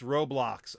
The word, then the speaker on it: Roblox: I don't try to pronounce stuff wrong. It's Roblox.